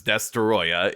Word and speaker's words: Destoroyah: It's Destroyer. You have to you have to pronounce the ah at the end. And so on December 9th, 1995, Godzilla versus Destroya is released.